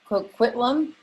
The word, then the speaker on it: Coquitlam: say that city i will butcher that co coquitlam yes i said it right yeah yeah you